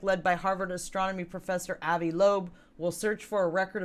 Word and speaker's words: Avi Loeb: pronounce his name? Avi Loeb.